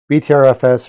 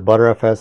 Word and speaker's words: BTRFS: BTRFS or ButterFS, however you want to pronounce it, works best with at least 20% free space available.